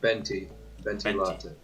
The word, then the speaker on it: Venti: it i think so venti i think benty exactly see in german you would pronounce that v as a b it'd be like a venti latte so yeah i prefer to say benty i miss speaking in